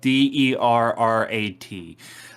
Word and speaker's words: Derrat: weird way and pronounced a weird way, but it's spelled D-E-R-R-A-T.